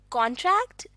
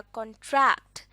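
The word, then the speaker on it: contract: जहाँ पर इस लफ्ज़ में स्ट्रेस दिया जाएगा पहले सिलेबल पर, तो ये बन जाएगा कॉन्ट्रैक्ट और ये है एक नाउन। जबकि अगर हम दूसरे सिलेबल पर स्ट्रेस देकर इस लफ्ज़ को प्रोनाउंस करें, तो ये बन जाएगा कॉन्ट्रैक्ट, जो कि है एक वर्ब।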